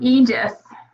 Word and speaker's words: Aegis: Is that how do you pronounce it? Aegis? Yeah, it's called Aegis.